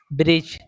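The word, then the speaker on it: bridge: यदि एन और जी से पहले डी हो तो डी साइलेंट होता है। फॉर एग्जांपल के लिए जैसे ब्रिज दोस्तों यहां पे जी से पहले डी आया है इसलिए डी साइलेंट होगा।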